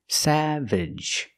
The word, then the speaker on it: savage: look at this word Savage pronunciation used to open a sound like black cat sa Savage and the second syllable is not stressed so pronounce it relaxed Sav Savage is an